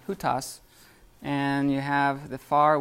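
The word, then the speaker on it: οὗτος: in Greek you have the near which is hot toss or ya who toss I mean who toss and you have the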